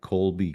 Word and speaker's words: Kolbe: Yeah, you know, one of the things that I did uh several years ago is I became a certified Colby coach. And Colby is spelled Kolbe.